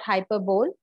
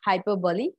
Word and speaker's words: hyperbole: Okay, so please pronunciate it correctly. It's not hyperbole, it's hyperbole.